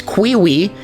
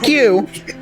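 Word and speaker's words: queue: The word Q is just a Q followed by 2 silent letters, and I really don't, or 4 silent letters, and I really don't like that. Now, I got an argument for you. Well, any rational person would think that it's Quiwi, but no, it's just Q.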